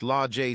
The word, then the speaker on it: Lage: Now, at 18 years old, Sage had 2 sisters, Age, pronounced Ajay, and Lage, pronounced Lajay Smith, and 2 brothers, Fremont, pronounced Fremonte, and Tremont, pronounced Tremonte Jones.